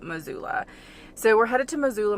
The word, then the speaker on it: Missoula: and by the way it's spelled with two s's i feel like it's missoula but the locals call it missoula so we're headed to